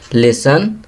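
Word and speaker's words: listen: लिसन, यहाँ T लिखेंगे।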